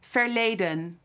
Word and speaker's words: verleden: It can only be one word, "the past" "Verleden" "Ver" (pronounced v-ayr) le (pronounced lay) den (pronounced dun) This side of my face is in the present.